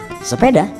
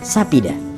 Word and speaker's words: sepeda: Kalau Banjar Kuala dia mengatakan sepeda, tapi kalau Banjar Hulu dia mengucapkan sapida.